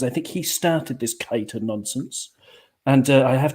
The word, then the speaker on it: Keita: on cop on podcast we do not tolerate the the pronunciation keita it's kate kater as in kate aidy kate moss or kate winslet okay okay you can